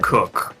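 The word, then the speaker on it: Coacoch: Cook. Pronounced, Oh, it's spelled C-O-A-C-O-C-H. It's or like coach. let bro But it's pronounced cook.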